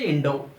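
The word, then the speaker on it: インド: In Japanese, India will be pronounced as Indo. Look here, Deriva, Indo.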